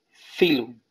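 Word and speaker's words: phylum: Filum. Filum se escribe pilum. P-H-Y-L-U-M. Filum.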